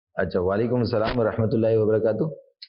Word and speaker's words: وعلیکم السلام: کہ وعلیکم، وعلیکم نہیں، عین پر بھی زبر ہے، وعلیکم السلام ورحمۃ اللہ وبرکاتہ، یہ